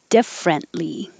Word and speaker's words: differently: Differently. Differently. You don't have to say the T in the middle.